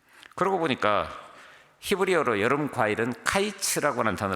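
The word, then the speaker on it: קיץ: 보니까 히브리어로 여러분 과일은 카이츠 라고 나타나 로 쓰고 끝은 캐치 라고 난 다 넣었습니다 근데 모음 자는 술 다 똑같아요 단지 발음이 카이츠 캐치 들어 버립니다 그러니까 카이츠 즉 여러분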